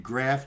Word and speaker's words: graf: So if you see me use lead graph, G-R-A-F sometimes, that's the cool lingo in the news business.